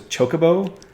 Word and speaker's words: chocobo: my favorite one was chocobo everybody pronounces that one wrong but i never did i don't know why well i always call them chuck chop chocobos yeah they try and pronounce it like chocolate i guess which i